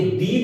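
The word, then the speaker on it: the: क्या है, साउंड किसका आना चाहिए, वोवल का आना चाहिए, और उससे अगर पहले लगा हुआ है ये शब्द तो ये दी बोला जाएगा वहां पे, ठीक है।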